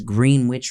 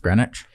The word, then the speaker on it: Greenwich: wheelchair-bound photographer spies on his neighbor from his green witch village greenwich green greenwich that's pronounced greenwich green witchville yeah this is greenwich village courtyard